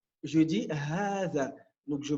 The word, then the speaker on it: هذا: Hadha, il fait partie de ces catégories de mots où il y a une prolongation à l'écoute, à la prononciation, mais pas à l'écrit.